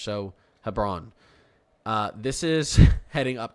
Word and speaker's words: Hebron: Hebron Hebron I'm gonna I'm going to pronounce this like it's LeBron with an H so Hebron uh this is heading